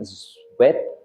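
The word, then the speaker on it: Tsvet: No se preocupen, yo tampoco sabía, pero es uno que se pronuncia como sweat o sweat.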